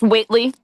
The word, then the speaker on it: Whitley: Is it Whit? I'm sorry. What is it? It's It's Whitley. Like Whitley Gilbert.